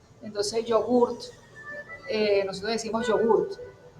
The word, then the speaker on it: yogurt: La Y, que es la Y o Y, entonces yogurt, nosotros decimos yogurt. En italiano sería acentuando el yo y acentuando la T, entonces sería yogurt.